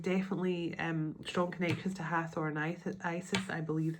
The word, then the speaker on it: Hathor: Believed to Believed to ancient Egyptians for over 3,000 years, Hathor, pronounced Hathor, is a goddess of light, joy, and gratitude.